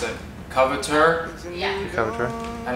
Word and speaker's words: Coveteur: How do you properly pronounce it? Coveteur? Yeah. Coveteur. And how do Americans say it? The coveter.